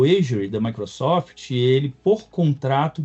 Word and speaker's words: Azure: E aí o risco é praticamente zero, porque a gente usa uma nuvem da Microsoft, o qual que é chamado Asury, se escreve Azure. O Asury da Microsoft, ele por contrato diz que não treina com nossos dados.